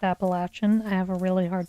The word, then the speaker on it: Appalachian: Okay, well, I'm working on my pigeon, so I went hiking on the, I pronounce it Appalachian, but my understanding is that it's actually pronounced Appalachian.